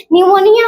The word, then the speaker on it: pneumonia: यानी क्या होता है निमोनिया हम लिखते हैं लेकिन ये पी जो होता है इसका साइलेंट में साइलेंट में रहता है उसके बाद देखेंगे